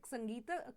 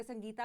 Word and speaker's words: संगीत: तो जैसे संगीत कला निधि अवार्ड या संगीता वैसे हम वर्ड यूज़ करते हैं बट संगीत है ए साइलेंट हो जाता है।